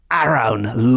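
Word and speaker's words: Arawn: this figure is known as the more popular Aron Lord of anon and that is spelled a r a w n the Lord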